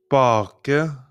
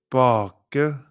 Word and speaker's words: bake: Even though there are some exceptions, the vowel is usually pronounced long if there's one consonant after it, and short if there are 2 consonants after the vowel.